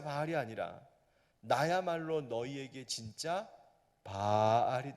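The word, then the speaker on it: בעל: 하는 말 내 입으려 동사는 바알 입니다 자바를 길게하는 아닙니다 빨 이 말을 짧게 발음하면 어떻게 될까요 달 에 바로우 사항을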